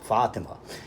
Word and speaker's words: Fatima: corresponding Hebrew characters and the main difference is where the emphases are you see in the name in the tarum the first syllable is short while the second syllable is long fima and in the Islamic name and that Muslim name it's the reverse the first syllable is long while the second syllable is short Fatima right now on a